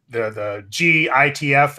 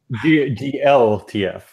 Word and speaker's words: glTF: It's the GITF export. Is there? Do you guys just say GITF or something? GLTF. Oh, it's GLTF. Yeah.